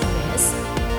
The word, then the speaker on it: Miss: again the thin line the z and the s the mis is miss the ms is miz all right now uh